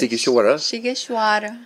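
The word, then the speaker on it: Sighişoara: we had to practice pronouncing this. Oh, yes. Sighisoara.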